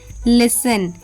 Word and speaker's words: listen: Now T is often silent in words ending in STEN or often T is silent before L.